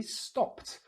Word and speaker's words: stopped: But we don't pronounce the extra consonant. It's just for spelling. So that ends in a T, stopped.